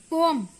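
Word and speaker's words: poem: एक होता आपका पोम. इट्स नॉट पोइम. पोइम बोलते हैं, वो रॉन्ग वे है. It's just पोम.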